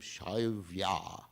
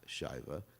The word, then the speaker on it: Shaivya: So his wife was named Shaivya, not Shaiva, Shaivya with a long A. That's the way you know it's feminine with a long A at the end.